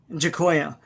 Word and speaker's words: Giacoia: by the great Jack Kirby, inked by Frank how do you pronounce this, D-Bud? Giacoia.